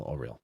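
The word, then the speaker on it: Auril: Could I tell you how to spell Oral? Yes. A U R I L. It's pronounced Oral.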